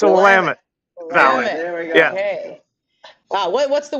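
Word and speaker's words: Willamette: the valley he's at how do you pronounce it the Wilmont I know they have it's a wamit it's a wamit okay wow what what's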